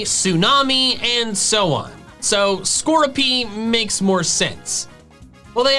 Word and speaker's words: Skorupi: Next is skroopy, and the official pronunciation is skroopy.